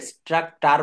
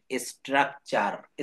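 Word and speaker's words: structure: তো এটাকে কিন্তু আমরা কখনো কেউ স্ট্রাকটার বলি না, এটা বলবো স্ট্রাকচার।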